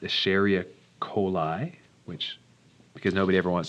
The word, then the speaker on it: Escherichia coli: It's pronounced Escherichia coli, which, because nobody ever wants to pronounce it, we just call it E.